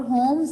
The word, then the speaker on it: Holmes: और होम्स है ये नाम, इसमें एल साइलेंट होता है, ठीक है।